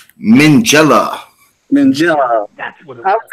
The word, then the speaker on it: Minghella: Mangold. It's not it. Okay. Unfortunately. No, yeah, not Mangold. It is Anthony Minghella.